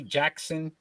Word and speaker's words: Jaskin: Right winger Dimitri Jackson. Not spelled like that kind of Jackson. Jaskin.